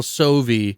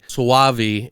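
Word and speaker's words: Soavi: that church not the michelle sovie sawavi if you want to say it properly i guess this has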